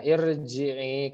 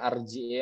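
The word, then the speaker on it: ارجعي: Nah, irji'i, kenapa enggak baca arji'i atau urji'i? Lihat huruf ketiganya. Huruf pertamanya hamzah, huruf keduanya ro, huruf ketiganya jim yang berharokat kasroh, maka dibacanya irji'i.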